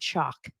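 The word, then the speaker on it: Chock: with this guy named chalk that's not a a mispronunciation his name is chalk spelled CH o CK they went to Disneyland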